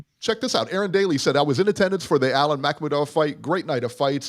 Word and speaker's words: Makhmudov: Makhmudov, yes. I always have a problem pronouncing the guy's name. Makhmudov.